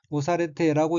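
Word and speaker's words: 押されて: 다음 어휘는 한자가 누를 앞자이고 일본어로는 오사레테라고 읽으며 오사레테는 밀다, 누르다는 뜻인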